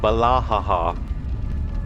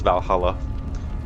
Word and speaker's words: Valhalla: Or Valahaha, as the meme now goes, based on the fact that someone mispronounced Valhalla.